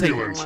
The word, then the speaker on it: simulant: It is Simulant. a simulant, as in it is similar to life.